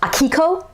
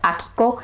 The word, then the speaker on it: Akiko: pronounced it's more like akiko it's more like straight across with a little bit of a fall at the end so japanese vowels they